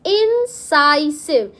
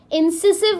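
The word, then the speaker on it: incisive: It's pronounce as इंसाइसिव। इंसिसिव नहीं बोलते हैं। क्या बोलते हैं? इंसाइसिव।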